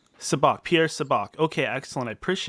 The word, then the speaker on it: Sabak: your name real quick is it Pierre sub ik it's soo bahk subak Pierce a Bock okay